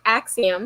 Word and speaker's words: Axiom: accident yes if you're driving me crazy is Axiom I don't even have a license to do